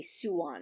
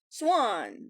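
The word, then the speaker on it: Siuan: think they say suwon i think they're actually making it much more of a two syllables thing when i say that it tends to be like one and a half syllables like swan whereas they're doing like suwon gotta get used to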